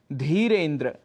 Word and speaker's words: धीरेन्द्र: उच्चारण कर बैठते हैं, जैसे धीरेन्द्र, जबकि शुद्ध उच्चारण है धीरेन्द्र।